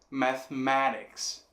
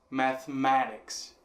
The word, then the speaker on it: mathematics: Em inglês a gente tem mathematics, mathematics, ma sendo a forte, então a mesma sílaba.